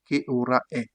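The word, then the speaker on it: che ora è: On aura en italien que aura est J'ai mis une prononciation ici là pour vous aider. Qu aura est ?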